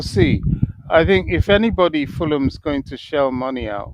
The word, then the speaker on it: Fulham: Is it pronounced to get, Fulham the H is silent? Fulham.